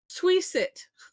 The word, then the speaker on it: SWiSit: And I'm gonna pronounce it SWiSit. It's kind of like WYSIWYG, which is what you see is what you get. This is SWiSit. Stick with it, see it through.